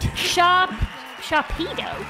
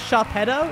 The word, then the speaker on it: Sharpedo: Sharpedo. Yeah, it's how it's said. What do you think? Sharpedo. It's like a torpedo.